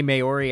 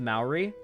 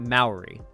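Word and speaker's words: Māori: It No, it's pronounced Mouri. I've heard a Okay. The only place I've ever heard it pronounced is Australians and New Zealanders and they pronounce it Mauy, but I don't know if that's the accent or not.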